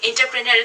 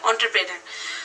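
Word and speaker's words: entrepreneur: প্রথমে যেটা বলছে যে এন্টারপ্রেনারের ক্ষেত্রে যে হু ইজ এন্টারপ্রেনার এটাকে অনেক সময় এটাকে মানে বাইরের কান্ট্রিতে যেটাকে একচুয়াল যেটার উচ্চারণ সেটা হচ্ছে অন্টারপ্রেনার সো আমরা যেহেতু এন্টারপ্রেনার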